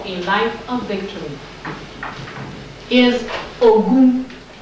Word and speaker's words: Ogun: Third principle for social, third social principle for a life of victory is Ogun. Ogun. O-G. G is the Latin George. Is G or J? That's G. O-G-O-U-N. Ogun.